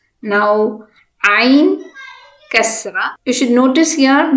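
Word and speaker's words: ع: This is ain. Ain should be pronounced from your throat.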